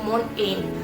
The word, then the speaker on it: mountain: Tapi sebenarnya itu seharusnya T-nya itu hilang ya, tidak terlalu jelas dibacakan menjadi mountain.